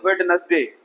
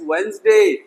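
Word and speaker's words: Wednesday: वेडनेसडे। और बहुत सारे बच्चों को पढ़ाया भी यही जाता है, वेडनेसडे वेडनेसडे। नो नो no, don't do that, it's वेंसडे। याद रखना, ओके। डी साइलेंट है, वेंसडे।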